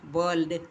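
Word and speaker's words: world: ஆங்கிலத்தில் வேர்ல்ட் curl என்ற வார்த்தைகளில் ஆர் என்பது சைலண்டாக இருக்கிறது. இன்னும் பல வார்த்தைகளிலும் வெள்ளையர்கள் ஆரி என்பதை மழுப்பலாக மழுப்பி கொண்டுதான் பேசுவார்கள்.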